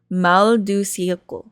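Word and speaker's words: mal du siècle: The notion of mal ceilation of this. Okay, I was pronouncing that wrong. Maldu Sele Mald cannot be dissociated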